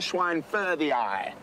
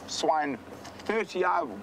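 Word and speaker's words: schweinfurthii: It is a false marula, Lania swine furthii. Or swine furthii, there's a lot of different ways to pronounce it.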